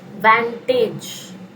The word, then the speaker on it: vantage: Next word we have is vantage. Vantage. Advantage होता है ना, उसमें से add हटा दो तो जो pronunciation होता है exactly वही है इसका.